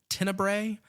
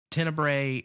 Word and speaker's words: Tenebrae: Tenebrae is, I don't know if it's pronounced that way or if it's pronounced Tenebra, because depending on the US or the Italian release, it's spelled differently. And it's Tenebra.